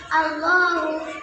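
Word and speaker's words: اللهُ: আলিফ জবর লামের তাসদীদ আল, লামের খাড়া জবর আলিফ ল আর পেশ হু আল্লাহু। টানটা আরও বেশি হবে। হ্যাঁ, আপনি বলেন তো। আলিফ লাম লাম হা আল্লাহু। বানান করেন।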